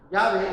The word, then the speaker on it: Yahvé: Según la enciclopedia Wikipedia, Yahvé, así le ponen ellos, Yahvé es según ellos y el consenso académico, la pronunciación más probable del tetragramatón.